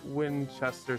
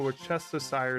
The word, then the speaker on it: Worcestershire: I'm saying it wrong on purpose, and now I can't say it right. But it makes the Worcestershire sauce better.